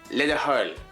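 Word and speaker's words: le do thoil: So please is Ledahul. Let it hold.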